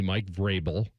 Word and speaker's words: Vrabel: It is going to be Mike Vrabel." That's how you pronounce it.